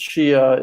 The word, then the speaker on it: Shia: it's much much higher it's shia it's she a long ago stopped how